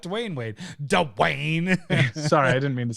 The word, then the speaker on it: Dwyane: one or or Dwyane Wade not Dwyane Wade Dwayne sorry I didn't mean to say it like